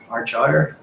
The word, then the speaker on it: Argyre: And the next slide we move on to, we've got Argyre. I pronounced it right.